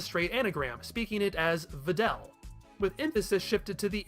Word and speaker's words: Videl: from each other but at least one of them catches that elongated e sound it's basically the same